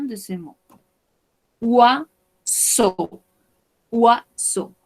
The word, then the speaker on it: oiseau: Oiseau, oiseau. Recordemos, cuando tenemos OI, vamos a pronunciarlo como UA. Ua, y estas tres, EAU, se pronuncia como una O.